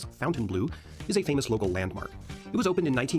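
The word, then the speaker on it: Fontainebleau: Miami Showdown Miami Beach's Fountain blow Hotel pronounced by the locals as Fountain Blue is a famous local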